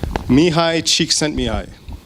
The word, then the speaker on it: Csikszentmihalyi: Or can anyone pronounce his name? It's Mihai Csikszentmihalyi.